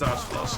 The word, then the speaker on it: Astalos: Same is true with Zenoga as well, really, but Ryzex, Astalos, yeah, it is Astalos because there's an official translation which calls it Astalos.